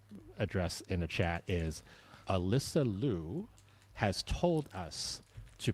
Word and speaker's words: Alysa Liu: So, neutrally, can we play the clip of Alyssa pronouncing her own name? Alyssa Liu. Alyssa There you go. Alyssa Liu.